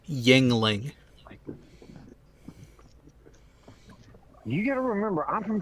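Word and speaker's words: Yuengling: the bag language yes the actual pronunciation of the name of that Brewery is Yingling you gotta remember I'm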